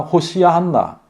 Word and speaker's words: 호시아나: 호산나가 아니라 호시아나.